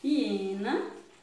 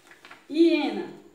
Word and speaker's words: hiena: Hiena. Do mesmo jeito, né? Só sai o som na vogal I.